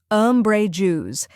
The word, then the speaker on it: umbrageous: in umbrella next is Bray which rhymes with Ray and is the stressed syllable finally Jews which sounds like the just in in Justice now let's put it all together umbrous try repeating after me